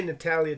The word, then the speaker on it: Natalia: oh i'm sorry i'm i've been mispronouncing your name miss natalia not la natalia okay natalya taylor that's easier to say sorry i [ __